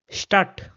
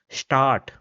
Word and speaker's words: Stadt: So it will be pronounced as Stadt, Stadt, and not Start.